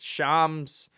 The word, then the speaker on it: Shams: I learned how to pronounce it. Shams.